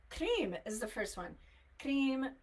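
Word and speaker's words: Krim: see it's okay cream is the first one cream k r i m cream whom hu M pronounced whom and then so you could do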